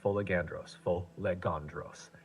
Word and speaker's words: Folegandros: It's actually pronounced Folegandros.